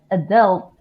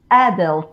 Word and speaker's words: adult: She said adult, and I will say adult.